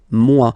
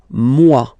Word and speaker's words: moi: Okay, moi, so it's me, moi. So remember this OI combination give you the sound wa wa wa, moi.